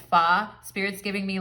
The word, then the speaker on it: pho: It's spelled pho, like F-H-O, but it's pho.